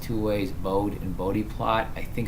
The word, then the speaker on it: Bode: it pronounced two ways bowed and bode plot I think it's pronounced bode so the e is pronounced alright so let's just